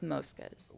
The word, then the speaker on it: Mosca's: The family refers it as Mosca's. The family says Mosca's. What's the difference there? Well, the change? Mosca in both Italian and Spanish means like mosquito or fly. So that's the pronunciation of the word. But in New Orleans, everyone says Mosca's, which Mosca's, that's darling. fine with me.